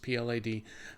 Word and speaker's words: Plaid: whatever screw it but the Plaid spelled with the eye the eye is invisible it's both silent and invisible so it's just plad that one I've recovered